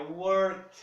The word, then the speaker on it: worked: Eu não pronuncio o E. Vai para o passado, esse E some. O K, nesse caso, I worked it. I worked. I worked. I worked. Esse D se transforma num T.